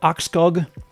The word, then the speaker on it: Arskog: I've been pronouncing your last name wrong still. Arskog.